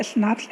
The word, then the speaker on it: schnapps: देखो यहाँ पे स्पेलिंग लिखी हुई है SCHNAPPS, तो हम इसे बोलता है स्नैप्स।